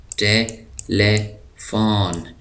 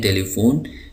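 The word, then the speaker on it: telephone: Courage کہتے ہیں حوصلہ۔ ٹیلیفون، ٹیلیفون، ٹیلیفون ہم اس کو اردو میں کہتے ہیں ٹیلی فون، لیکن انگلش میں اس کا صحیح تلفظ ہے ٹیلیفون۔ تو ٹیلیفون، ٹیلیفون۔ اسپیڈ،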